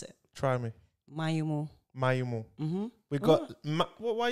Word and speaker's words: Maignomo: use it because people don't know how to pronounce it try me mayumo mm-hmm we've got why are you surprised that i got it right i mean like not everyone gets a right they call me meganono i know i'm like no it's my